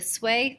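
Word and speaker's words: Sui: exactly what happens in this scenario so the sway family and that's how you pronounce that um by the sway family who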